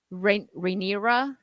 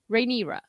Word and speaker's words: Rhaenyra: Rhaenyra, that's it. See, D-Day knows how to do the pronunciations for me. Thank you. Rhaenyra.